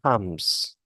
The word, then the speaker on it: comes: instead of comes comes the pronunciation of the O it's like an a we set up an